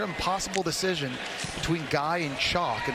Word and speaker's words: Chock: Spell that for me. Chalk, C-H-O-C-K. That's the man's first name. Like chock-a-noodle soup.